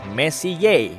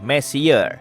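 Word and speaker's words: Messier: adalah singkatan dari Messi diucapkan Messi bukan Messi yang tinya lebih berantakan Charles messie persisnya adalah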